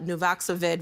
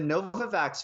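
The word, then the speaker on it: Novavax: come to you uh Health Canada approved the novoxovid vaccine back in mid-February what makes it different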